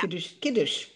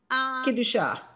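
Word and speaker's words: קדושה: Kiddush. Well, it's Kiddusha. Right. Kidusha. Kidusha. Very nice.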